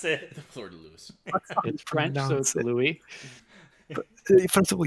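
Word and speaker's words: fleur-de-lis: it's right see yeah this exact it's the Florida Lewis that's how you pronounce it the Florida Lewis French Louie first of all yes also Louie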